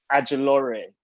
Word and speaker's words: Ajilore: a lot of, there's a YouTuber called Grace Adjolore I really liked, like random influences. How do you say her name? Grace Adjolore? Adjolore, yeah.